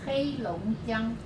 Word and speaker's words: Heilongjiang: Heilongjiang. Heilongjiang. I get it almost. Besides being hard to pronounce, it's tonal too, I hear.